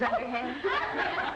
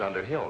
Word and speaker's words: Underhill: men thank you mrs underhand gave me such a fright mrs underhill not mrs underhand elizabeth you mispronounce it